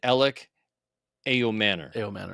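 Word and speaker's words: Elic Ayomanor: Kymir Dyke, wide receiver, Gunnar Helm, and Alec Ayomanor.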